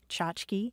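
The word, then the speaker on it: tchotchke: c h o t c h ke e chachki sometimes it spells c h o t c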